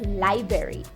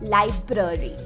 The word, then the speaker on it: library: Now there's a common mispronunciation. Many people say this as library, but it's not library. It's library. Library.